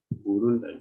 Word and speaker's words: Burunda: The spelling is as the pronunciation. Burunda, B-U-R-U-N-D-A.